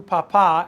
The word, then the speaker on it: papá: Dile a tu papá. Accent on the last A of papá. Otherwise you have a potato.